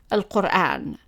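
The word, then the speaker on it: القرآن: For example, the word al-Quran, meaning the Quran, is always in general pronounced as al-Quran.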